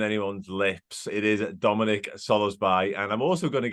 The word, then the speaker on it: Szoboszlai: And in his video, he said Dominik Szoboszlai.